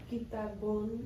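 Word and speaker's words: كِتَابٌ: And this sound is un, un, like un at the end. So pronounce this, Angelina. Kitabun.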